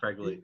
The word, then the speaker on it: Fregley: Or Fregley, is that how you say it? Yeah, Fregley.